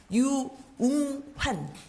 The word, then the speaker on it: 유웅환: 마스크를 한 번만 벗고 발음을 해드릴게요. 유웅환. 유웅환.